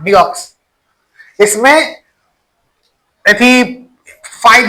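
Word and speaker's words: deoxy: डीएनए का full form pronunciation डीऑक्सीराइबोज nucleic acid डीऑक्सी [गला साफ़ करने की आवाज़] डीऑक्सी डीक्सी नहीं पढ़ते हैं डीऑक्सी डीऑक्सी आई भी राइबोज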